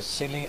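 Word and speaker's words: Scilly: day we go to the silly Isles sounds silly doesn't it but it's spelled s c i l l y and the silly is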